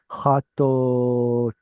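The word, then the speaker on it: חטאתם: So the aleph here has quiesced. It's not doing anything. It's a silent letter. Chatotam. So the vav is representing the O sound before the O sound was ever inserted.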